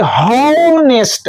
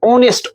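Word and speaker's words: honest: ओ एन ए एस टी इसको पढ़ना चाहिए होनेस्ट हो लेकिन ऐसा बात नहीं है बच्चों यहां पर एच आपका साइलेंट हो गया है कि नहीं यहां पर पढ़ेंगे ओ एन ई एस टी ऑनेस्ट ऑनेस्ट ऑनेस्ट over over अब समझ में आ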